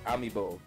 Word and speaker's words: Amiibo: The word is Amiibo. It said as it's spelled Amiibo.